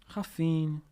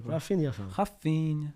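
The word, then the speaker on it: Raphinha: Raffin. Say his name properly. Say his name. Say his name properly. Rafinia.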